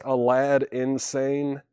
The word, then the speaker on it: Aladdin Sane: Rebecca Barber, that was Aladdin Sane, or pronounced Alad Insane. Aladdin Sane, kind of a play on words there.